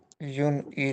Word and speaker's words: île: We don't pronounce s, and we replace it with accent.